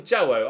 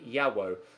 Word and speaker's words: Jawo: of Swedish followers that I should be pronouncing the J without a hard J with kind of a Y sound. So it's actually Osman Yawo.